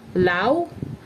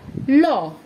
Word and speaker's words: law: Same goes for the word law. It's not pronounced as lau, neither leu. It's pronounced as law.